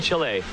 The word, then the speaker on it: Chile: watching back in chile you gotta say it like that right chile it's not chili it's not the food although i love some